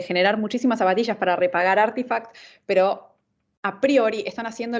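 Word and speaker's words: RTFKT: esto es Nike que se compró artifact se lee así se escribe rtf kt pero es artifact y e se lo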